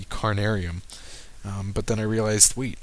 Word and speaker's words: Carnarium: And I'm thinking I can do the Ophi and the Cranium. Sorry, I always mispronounce this one. It's the Carnarium.